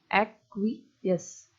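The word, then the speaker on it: acquiesce: लिख दिया है एक्वियस, एक्वियस। अब जैसे आप एक्वियस बोल रहे हो तो लास्ट में जैसे इसका प्रोनाउंसिएशन कर रहे हो तो लास्ट में साउंड किसका आ रहा है? यस का।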